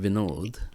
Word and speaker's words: Vinod: it was actually called Vino's kebabs because it retention they couldn't pronounce my name properly especially with the English schools they instead of saying vinod they could only say Vino and that's what you